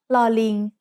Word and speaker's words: ลอลิง: The sound of ลอลิง as an initial consonant is l, like the L in little.